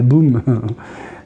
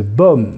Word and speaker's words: Baume: Alors moi, je disais Sophie de Boum. Non, c'est de Baume, hein. Voilà, c'est comme ça que ça se prononce.